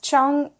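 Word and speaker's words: 唱歌: This is Chongge, and I always forget that first vowel, but Chongge, 2 syllables, Chongge, and it's to sing.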